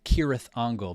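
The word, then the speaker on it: Cirith Ungol: Um, so Kirath Angle because hard C.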